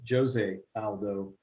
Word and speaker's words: José Aldo: Jose Aldo and Pedro Munoz.